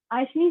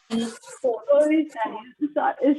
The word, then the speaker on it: Oishani: Miss, it will be better if you pronounce with OI, then it will be ओइशानी. ओइशानी, but it's written AI ना? Ma'am in Bengal Yes. A becomes O.